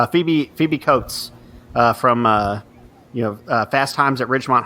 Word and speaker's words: Cates: Is it Cates or Coates? I think it's pronounced Cates.